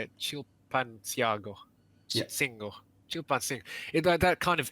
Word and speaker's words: Chilpancingo: Chilpancingo.